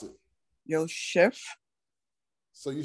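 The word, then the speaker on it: יוסף: The first one, pronounce it. Yosef.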